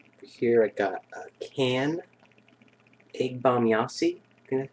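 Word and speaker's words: Ege Bamyasi: all right uh here I got a can egg bomb Yi that's how you say it can C German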